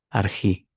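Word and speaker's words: ἀρχή: Arjí o arjé, según la pronunciación que tengas. Aquí está, mira. Es exactamente el mismo. En arjé o en arjí.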